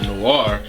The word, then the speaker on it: Noir: And in other news, Noir, or some pronounce Noir, is actually getting a live action adaptation from Starz Entertainment.